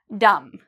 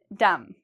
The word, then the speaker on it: dumb: Okay, do you hear a B sound in there? Dumb. No. So again, you'll notice there's an M and a B. We see the M, so we know no pronunciation of the B sound.